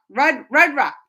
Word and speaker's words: Rudra: Rudra.